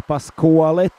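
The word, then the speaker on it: Pasquali: I have learned a thing or two today also and now I know it's Pasuali. So I'm sorry for yesterday's pronunciation uh which was a little bit off.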